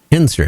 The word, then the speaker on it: Ensor: I believe that's how you pronounce the last name. Ensor, that's right.